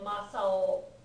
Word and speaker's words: Masao: Another, the otoko kanji actually can occur as a name ender, and it's usually pronounced o in that case. So like Masao, I think Masao would be this kanji.